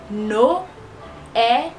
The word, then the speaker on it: Noël: on lit non no mais comme il y a un tré sur E alors il indique que le e il va se prononcer lui-même qui va faire noël noël noël pause pour que vous